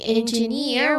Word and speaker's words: engineer: We say engineer with those voice clearly rising on the final syllable.